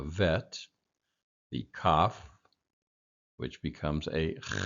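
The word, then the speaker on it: ב: The only 3 letters that are changed are the bet, which becomes a V, a vet, the kaf, which becomes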